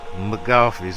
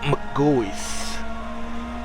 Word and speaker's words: McGaughy's: so I know it looks like it says McCaffrey's but it's the family pronounced their name Magoo is like okay say for example McDonald's but um yeah look g-o-y-s is how it's pronounced McCoy's so a lot of people get that wrong